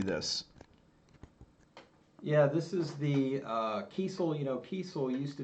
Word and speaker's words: Kiesel: Kiesel, that's how you say it? Yeah, it's Kiesel.